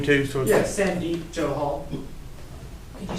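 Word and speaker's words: Sandeep Johal: would you state your name too so yeah sandy joe hall could you spell that s-a-n-d-e-e-p last name joe hall j-o-h-a-l thank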